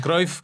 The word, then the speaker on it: Cruyff: Bueno, nuestros mejores deseos para Jordi, que ahí en Israel, en vez de pronunciarlo Cruyff como aquí, lo pronuncian Cruyff como en holandés.